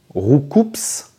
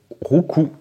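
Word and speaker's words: Roucoups: bien la réponse c'est rouou voilà c'est un c'est un mélange entre rou coulé et qui donne des coups voilà voilà c'est donner des coups au pluriel CS donc le S ne se prononce pas voilà donc normalement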